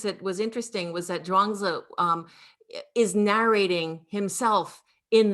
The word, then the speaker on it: Zhuangzi: The dream is dependently you know, co-arising from How do you pronounce the name? Zhuangzi.